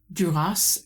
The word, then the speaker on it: Duras: Today we are reviewing The Lover by Margaret Duras and I'm told that the final S needs to be pronounced so I'm going with it.